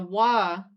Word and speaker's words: は: The wa, as a hiragana, is written as the hiragana for ha, but you would say wa.